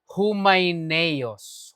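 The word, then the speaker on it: Hymenaeus: I have 1 Timothy 120 of whom minen si Heneus ang pronunciation humineos humineos siitus naman philetas pero siya sa 1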